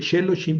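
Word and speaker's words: שְׁלֹשִׁים: Pues que ese ese shev no se pronuncie largo. No es shehim porque sheloshim son tres sílabas.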